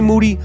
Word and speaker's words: Moody: Moody, last name rhymes with duty.